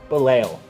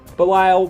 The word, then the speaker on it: Belial: the same thing and if you want to get actually really technical its balelo but Belial works or I guess if you continue to want to say it as Bailey Isle more power to you for sake of